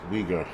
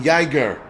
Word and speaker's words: Uyghur: we girl uyghur okay uyghur pronounce wieger everybody's like you sound like an saying yeager it's uyghur thank you guys i